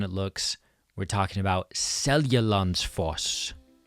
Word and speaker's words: Seljalandsfoss: We're talking about Seljalandsfoss. Seljalandsfoss, made up of three words. So, we've got Selja, lands, foss. Once you break it down, it's pretty straightforward.